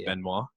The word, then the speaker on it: Benoit: you noticed now that the correct way to pronounce that name is benoit is it yeah yeah it's benoit however no one wants to be associated with chris benoit oh okay that's the